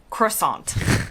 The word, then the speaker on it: croissant: right something like that in the US I say croissant emphasis on the aunt I've dug a little